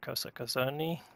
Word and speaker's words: Kosa Kozoni: So congratulations to Kosa Kozoni. That's how you pronounce his name.